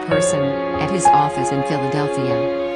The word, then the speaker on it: Philadelphia: at his office in Philadelphia. It didn't help that he pronounced it Phillydelphia.